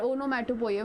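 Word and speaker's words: onomatopoeia: type Toya any doubt the pronounce for this word would be ओनो मैटो पोया ओनो मोटो पोया बोला ना कोई पोया पोया कर दूगी ओके सो ओनो मैटो पोया एनी डाउट इन दिस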